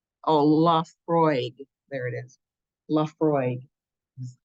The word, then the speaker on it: Laphroaig: Laphroaig is how you pronounce that business.